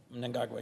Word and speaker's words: Mnangagwa: And you always correct me on my pronunciation, so I'm going to try my best. Mnangagwa. Mnangagwa, yes.